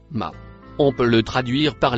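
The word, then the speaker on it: ما: Le mot marron se prononce ma.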